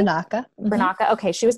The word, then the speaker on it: Biernacka: So Blessed Marianna Biernacka, did I pronounce that correctly? Biernacka.